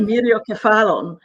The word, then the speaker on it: Myriokephalon: Myriokephalon.